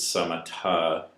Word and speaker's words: samatha: buddhist teachings and um what i pronounce is samatha or shamatta in sanskrit is calming or relaxation form